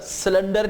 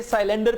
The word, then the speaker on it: cylinder: सिलेंडर नहीं कहना. Okay, देखा ना, यही एक्सेंट रिडक्शन है कि आपको सिलेंडर से निकाल के साइलेंडर पे ला रहे हैं ताकि आपका जो एक्सेंट